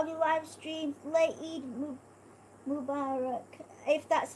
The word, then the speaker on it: Eid Mubarak: Late Eid Mubarak, if that's how you say it. Okay, Eid Mubarak.